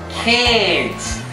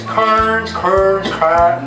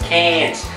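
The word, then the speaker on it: Cairns: cleans STS up there there's a place called cans and that's how you say it all those North Americans KS KS no it's cans so when you want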